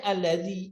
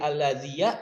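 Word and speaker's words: الذي: mabni mau bagaimanapun posisinya tetap aja bacanya alladzi alladzi alladzi enggak serta-merta jadi alladziya alladziyu alladzii enggak mungkin karena dia Isim mabni Nah itu maksudnya Isim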